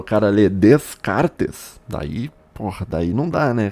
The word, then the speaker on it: Descartes: o filósofo francês chamado descarte falava Ah eu já li Descartes pelo amor de Deus nunca pronuncie o s no final do nome do Descartes o s é mudo cara Eu já li